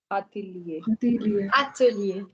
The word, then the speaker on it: atelier: Atelier. Atelier is a workshop. Ok? Alors, maintenant, vous avez une prononciation extrêmement très importante, very important pronunciation of GN, GNE.